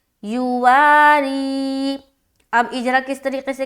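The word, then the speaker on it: يواري: یا پیش یو، واو الف زبر وا، را یا زیر ری، یواری۔ اب اجرا کس طریقے سے کریں گے؟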